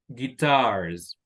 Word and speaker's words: guitars: first very good but what about guitars guitars at last the second syllable very good now that's